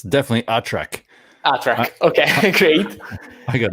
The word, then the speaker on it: ATRAC: I don't know if ATRAC is the right pronunciation. ATRAC. Oh, absolutely. I'm an expert. It's definitely ATRAC.